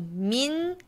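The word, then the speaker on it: 민: one is sugar so Min is a family name so mean it's his name okay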